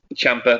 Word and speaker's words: Ciampa: Ciampa, that's it.